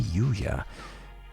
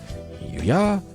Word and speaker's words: Yuya: The ever-popular trendsetter and ladies' man, Sakazaki Yuya, is Sakuya's brother.